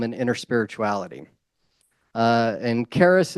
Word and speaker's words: Charis: inner spirituality uh and Caris is spelled Charis like c h a r i s it's actually the Greek word for Grace uh and also charism